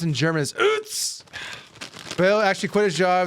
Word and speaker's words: Utz: So it was founded by Bill and Sally Utz, pronounced in German as Utz.